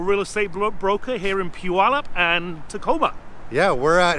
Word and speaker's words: Puyallup: that it's p-u-well up it's an Indian Reservation name this is what is called Puyallup it's not too bad keep pronouncing it keep repeating it and you'll get it and trust me Puyallup see how easy that